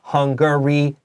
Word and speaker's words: Hungary: TV series that's right also the word Hungary made Soul sounds like hungry but Hungary has three syllables right there let's go